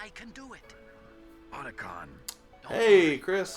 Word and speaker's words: Otacon: Otacon.